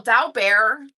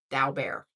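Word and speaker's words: Daubert: And then if you want to pronounce it, it's like dao like the stock market and then bear like the animal dowo bear.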